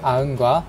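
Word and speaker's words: Aachen: 비율을 계산하였습니다 데이터 셋으로는 아흔과 아흔 버전 1.1을 사용했습니다 독일에 있는 도시이기 때문에 독일어 발음으로 아흔이라고 있습니다 그리고 로보카 시즌스 데이터셋으로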